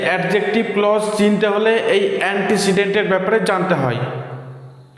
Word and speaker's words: antecedent: আগে এর উচ্চারণটা ভালো করে জানতে হবে। অন্টি সিডেন্ট অন্টিসিডেন্ট না এটা বাংলা উচ্চারণ হয়ে গেল এর ইংরেজি উচ্চারণে ই এর শর্ট উচ্চারণ থাকে এন্টেসিডেন্ট এবার দেখো আমি ক্লজ